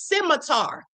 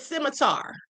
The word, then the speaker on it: scimitar: The word is scimitar. The word is scimitar. Hold on. I guess the C is silent.